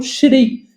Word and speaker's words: Shri: Por exemplo, o Senhor Jesus, o Senhor, né, nas línguas indianas, eles pronunciam Shri, por isso a gente fala Shri Mataji.